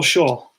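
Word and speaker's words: Schaal: worse I remember and Paul Shull that's how you pronounce his name Sid spelled SCH tal perhaps with shawl 69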